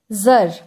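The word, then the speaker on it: czar: god goddess god goddess জার এর spelling টা হচ্ছে সি জেড এ আর কিন্তু এর প্রোনাউন্সিয়েশন হবে জার যার অর্থ হচ্ছে রুলার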